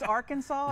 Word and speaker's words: Arkansas: That's like a non-syllable word. It's Arkansas, and I'm wearing shoes today, so don't ask me to do math.